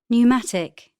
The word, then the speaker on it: pneumatic: O O co-opt B silent letters the letters below in bold are silent in the examples P psychic psychiatry pneumatic receipt pseudonym psychology B comb dumb Numb to climb.